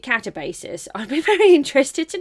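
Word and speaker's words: Katabasis: Apparently people don't know how to pronounce it. I pronounce it Catabasis.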